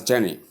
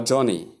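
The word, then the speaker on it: journey: Common error, saying ja, ne, Jane, or Johnny, or some other pronunciation outside what is depicted here is wrong. Tip, focus on the long S sound. Long air vowel sound, like learn, or turn, or even bird, or birth, or sir, and so on.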